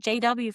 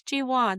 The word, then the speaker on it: Ji-won: And my name isn't JW, for fuck's sake, it's G1. The least you could do is say it properly."